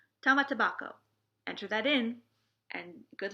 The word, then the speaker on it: Tamatebako: The word of the day today is tamatabako, the jeweled box that Urashima had. You spell it Tamatebako, tamatabako.